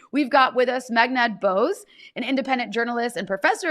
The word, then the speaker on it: Bose: your last name and you were like like the way they pronounce the headphones, but not connected, I assume.